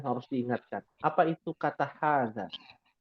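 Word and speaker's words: هذا: Apa itu kata hadza? Mungkin ha di sini nggak kelihatan panjang, ya. Ya. Dia sebenarnya dibacanya panjang, 2 harokat.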